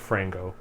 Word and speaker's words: Frango: with frank frango franco somebody's pronounced frango like mango i do i love